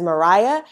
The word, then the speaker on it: Maria: women 1830 to 1850 you'll notice that I pronounced what looks like Maria as Mariah that is the way the